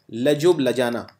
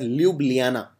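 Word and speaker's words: Ljubljana: to which country now this country's capital is laub Lana in fact it is pronounced as Luana but just for writing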